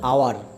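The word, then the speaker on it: hour: কিন্তু এইচের উচ্চারণ ও অথবা আয়ের মতো হলে তার পূর্বে অ্যান আর্টিকেল বসে। যেমন এ হর্স, A historian, an honest man, অ্যান আওয়ার।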